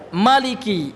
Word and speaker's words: Maliki: Wa yuqalu, dan dibaca atau dikatakan dibaca lah ya, Maliki bikasril lam, dengan mengkasrahkan huruf lamnya, Mali ya, Maliki.